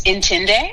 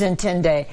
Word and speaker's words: Intinde: How do you pronounce the name of your business, Angela? It's Intinde. It is Intinde.